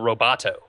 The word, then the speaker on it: Roboto: UI around a font that they call Roboto, which coincidentally rhymes with Metro, which is what Windows Phone 7 is.